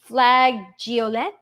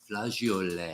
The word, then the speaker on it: flageolet: green colored bean that we were trying to pronounce flageolet. Flageolet. Flageolet? Flageolet.